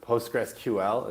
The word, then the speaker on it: PostgreSQL: sql you can turn postgres sql or postgresql is that i think that's how you say it right yeah yeah i'll allow it okay yeah okay it's